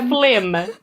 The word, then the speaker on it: phlegm: Or phlegm. Phlegm. But okay, you know how the word phlegm is spelled with like a silent G or whatever, and it's just really confusing.